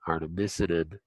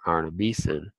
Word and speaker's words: artemisinin: Also, much research has showed that an herb called artemisinin or artemisinin, and how you want to pronounce it, also helps that flow.